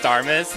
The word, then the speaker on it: Starmies: First of all, it's pronounced Starmus, not Starmies.